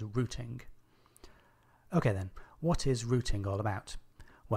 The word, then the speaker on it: routing: Now firstly, I know that Americans pronounce that word as routing, but I'm British and we have an international audience, so throughout this episode I'll be pronouncing it as routing.